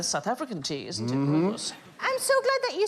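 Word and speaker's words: Rooibos: Robos oh the South African tea isn't it Robos I'm so glad that you said I didn't know how to pronounce that I've been calling it Ruby Boo for years I was 33 still ordering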